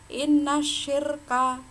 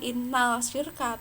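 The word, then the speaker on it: إن الشرك: Inna syirka, pembacanya gitu, bukan innal syirka tapi langsung menuju ke shin.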